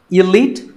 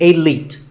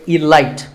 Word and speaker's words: elite: Actually, there are two correct pronunciations, elite and elite. Both are okay, but just don't say elite. There's no light in elite.